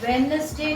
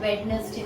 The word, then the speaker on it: Wednesday: It's Wednesday, not Wednesday. So D silent में चला जाता है, but otherwise की presence है. But pronunciation Wednesday होगी.